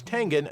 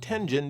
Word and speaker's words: Tengen: And yes, it's Tengen, not Tenjin, because there's no soft G in Japanese.